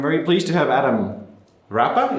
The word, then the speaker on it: Rapa: I'm very pleased to have Adam Rapa. Is that how you say it? Yeah. Because I feel like it's a Rapa. No, really. No, it's a Rapa. Quite simple.